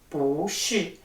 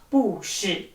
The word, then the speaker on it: 不是: we should change the tone to the 2nd tone, as it is pronounced as bú shì, not bù shì.